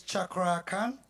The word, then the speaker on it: Cakra Khan: How did he pronounce his name again? It's Chakra Khan. Oh, Shak. Hold on. Who are you? My name is Chakra Khan. Chakra Khan. Oh, okay. I said it wrong in the beginning.